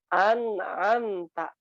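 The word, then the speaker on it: أنعمت: Harusnya an amta. An amta. Ya. Jadi jangan dilepas. Tadi lidah terdekat disentuhkan ke rongga mulut ya, ke atas langit-langitnya, mohon maaf ya, ke atas langit-langitnya. An'amta. Jadi bukan ini kalau dilepas kayak begitu jadi nanti an'amta. Jadi jangan dilepas an'amta gitulah, jangan dilepas gitu ya.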